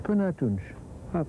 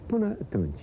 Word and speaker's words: Până atunci: Până atunci. Până atunci, yeah.